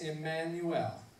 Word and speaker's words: Immanuel: It's pronounced Immanuel.